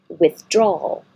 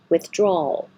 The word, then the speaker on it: withdrawal: very often exorcism exorcism withdrawal with an L that you hold there withdrawal so you can hear the L at the end withdraw now there's no